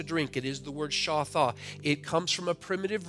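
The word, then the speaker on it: shathah: The word is shatha. Again, shatha. S-H-A-T-H-A-H. It is pronounced shatha.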